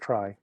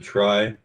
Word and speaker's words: trie: of the tree steve did i pronounce that correctly or is it try most folks around here pronounce it try um i was uh a student of the inventor of it and he pronounced it tree that one the trie